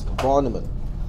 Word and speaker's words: von Neumann: I was corrected by a Deutsch-speaking student that I did not pronounce the name correctly. It's von Neumann, John von Neumann.